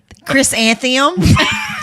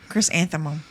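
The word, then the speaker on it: chrysanthemum: we talked about what's the name of it Chris antheum for November and then August is a gladiolus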